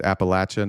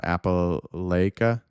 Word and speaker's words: Appalachia: to bolster the health It's Appalachia, not Apple Lakia.